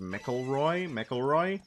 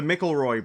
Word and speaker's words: McElroy: Monster Factory is a YouTube series originally started on Polygon by I think their last name is pronounced McElroy, the McElroy brothers, who are a